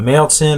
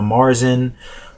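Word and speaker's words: Märzen: as i just said is a male sin or a lot of americans pronounce it a marzin or an oktoberfest the availability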